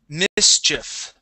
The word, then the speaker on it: mischief: this word here um we do need to pronounce that c CH sound okay Mischief Mischief Mischief there you